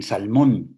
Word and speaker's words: salmón: El acento prosódico está en la sílaba sexta, que es la central, en Salmón, Mon, y el Ulises Salmón de los regresos.